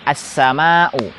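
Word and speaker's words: السماء: Berarti kita membacanya as-sama'u.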